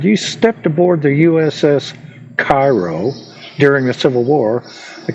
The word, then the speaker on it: Cairo: Now, in the little video, they pronounced this ship that was picked up called Cairo. We call it Cairo because it's spelled like Cairo.